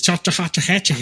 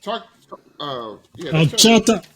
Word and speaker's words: Chattahoochee: It's Chattahoochee High School. Oh, it is Chattahoochee. No, that's not. It's Chattahoochee. That's Chattahoochee, like Alan Is it Jackson song. Yep. Chattahoochee.